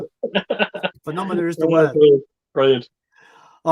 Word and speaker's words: Phenomena: But he pronounced it Phenomena, right? So I didn't comment. I actually messaged him. I just was like, I did a voice message. I was like, it's pronounced Phenomena, you twat.